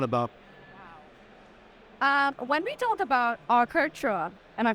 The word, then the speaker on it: Arcartera: Absolutely, yeah, Arcartera. Arctera. What does that stand for? Where does the name come from? The name actually derives from Spanish, cartera, which means wallet.